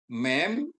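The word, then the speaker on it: מ: Mem ya. Konsonan Ibrani mem atau dan mem sopit ya. Mem dan mem sopit ya. Mem dibunyikan seperti M dalam kata makan atau transliterasinya M.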